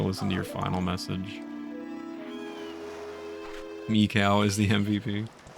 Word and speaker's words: Mikau: I've always pronounced it Maiku, I just realized how wrong I was, because that would be M-A-I-K-U, Mikau, of the Zora people, guitarist in the Zora band.